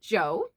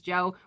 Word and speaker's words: Jo: pronounce his name, but I'm going to go with Joe because I think his name is John or Jonathan.